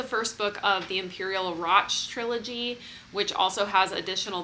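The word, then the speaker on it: Radch: I had to look up how to pronounce Roch and say it to myself over and over and over as I was reading this book because the spelling is just so weird, but it rhymes with watch.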